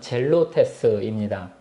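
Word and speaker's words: ζηλωτής: 이 셀롯은 본래 헬러 발음을 살려서 읽으면 젤로테스입니다.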